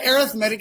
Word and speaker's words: arithmetic: and these are called arithmetic sequences and yes i said arithmetic because that's the way you pronounce that a sequence is